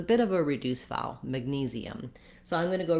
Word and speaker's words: magnesium: We have a letter A with the A vowel, but the mag syllable is not stressed. You can see here, this little line will show you that the knees syllable is stressed. And so when I'm saying calcium, I'm lengthening on that A. In magnesium, it almost doesn't even sound like an A. It's so short.